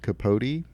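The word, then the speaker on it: Capote: documentary oh yeah I the Criterion Channel watched capot part of their Philip seamour Hoffman collection pronounced capot ah yes kot K it's pronounced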